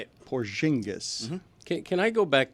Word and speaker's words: Porzingis: How did you pronounce Kristop's name? He said Porzingis. Yeah, that's how you say it. Porzingis.